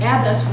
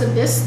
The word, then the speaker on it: abyss: you keep using the word Abyss but you're pronouncing it abis which is a nun and that's very confusing so I would suggest if if you can't pronounce it pronounce Abyss the way we normally hear it switch to